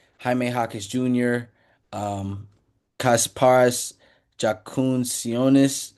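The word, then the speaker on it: Jakučionis: Jaquez Jr., um, Kasparas Jakuncionis. Sorry if I pronounced that Kasparis wrong. Yakuchonis. Thank you, bro.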